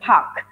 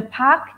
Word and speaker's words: Parq: So this new phase is called the Parq. The Parq.